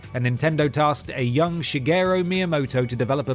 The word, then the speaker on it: Shigeru: the game flopped and nintendo tasked a young shigeru miyamoto to develop a betting guerrilla that's not how you say his name alongside